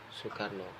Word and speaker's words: Soekarno: kita yaitu spier Insinyur Soekarno Ratu lisannya itu bukan sukr0 tapi Soekarno ya contoh lagi Hai